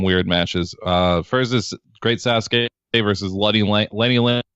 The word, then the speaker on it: Sasuke: little title card and has the phonetic spelling of great Sasuke which is low-key kind of clever because usually people just call him great Suzuki or great Sassou K and you know phonetically then everybody says it right so they should